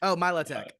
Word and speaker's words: Milotic: But it's got these beautiful scales, and I feel like Milotic.